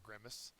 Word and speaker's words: grimace: The first syllable is accented.